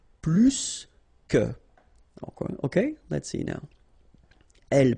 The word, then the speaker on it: plus que: in that case, remember, plus will be with the S. So pronounce it plus que.